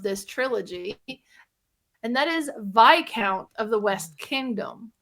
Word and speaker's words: Viscount: also mispronounce it because it's not spelled the way that it sounds. Um, but this is one that I finally played the third game of this trilogy, and that is Vic Count of the West Kingdom, not Viscount.